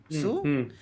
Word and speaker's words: Hsu: How do you pronounce HSU? Sue?